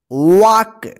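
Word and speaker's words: walk: पढ़ेंगे ड मतलब करना वाक डब्लू ए एल के वक देखिए य पे एल जो साइलेंट है ठीक है वाक वक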